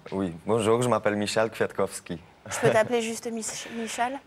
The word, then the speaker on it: Kwiatkowski: Oui, bonjour, je m'appelle Michal Kwiatkowski.